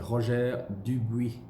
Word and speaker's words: Roger Dubuis: And then Dubuis, Roger Dubuis. It's another big brand which is often mispronounced. Roger Dubuis. In French, it's a Roger Dubuis.